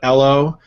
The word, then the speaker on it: Ello: But today we're talking about Ello, which is kind of yellow without the Y is how you pronounce this, which apparently is this new flavor of the year social network.